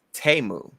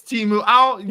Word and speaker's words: Temu: Wait, apparently it's pronounced Temu. It's Temu.